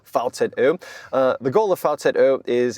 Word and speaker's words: VCÖ: That's an O with the two little dots on top. To pronounce it correctly, the VCÖ.